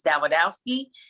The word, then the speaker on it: Dawidowski: name along with that davidowski it's actually it's spelled like or sounds like the widow's key so if you put the sda widow ski um that's the easiest